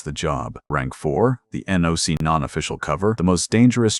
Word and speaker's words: NOC: They call it NOC, non-official cover, pronounced knock.